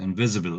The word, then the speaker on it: invisible: Yes, invisible. S هون تلفظ like Z. Invisible.